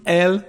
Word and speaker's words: elle: So you can hear the sound L at the end, elle mange. And of course we are going to have a liaison. So what kind of liaison? Elle becomes the sound E,